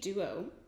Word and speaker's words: Dewo: It's spelled Cheek Duo, but D-E-W-O. And I was like, is that a typo? And then, no, it's not. It's just like they're being cute.